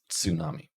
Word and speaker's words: tsunami: the word tsunami so in English we would write tsunami and we'd probably pronounce it without the T but in Japanese you would pronounce it with the T as one sound with the S tsunami now we have a